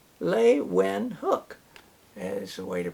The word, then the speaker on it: Leeuwenhoek: And I can pronounce his last name because on the back of the book it says Leeuwenhoek is the way to pronounce it. Anthony van Leeuwenhoek.